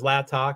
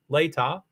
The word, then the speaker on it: Latah: I thought it was Latah because I thought it was Indian, but it's Latah.